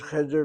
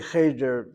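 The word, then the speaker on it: חדר: So, that's why we have a situation with irregular syllable in the first syllable. The word cheder means room.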